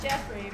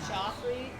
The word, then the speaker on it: Jeffrey: And it's pronounced Jeffrey, right? Not Joffrey, like in Game of Thrones.